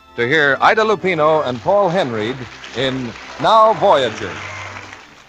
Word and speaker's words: Paul Henreid: He pronounces his name Paul Henreid.